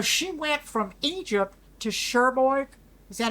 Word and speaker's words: Cherbourg: So she went from Egypt to Cherbourg, Is that how you say it in France? Yeah, Cherbourg, and yeah.